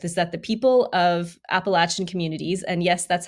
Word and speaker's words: Appalachian: we spoke with is that the people of Appalachian communities and yes that's how you pronounce it they are very self-reliant and that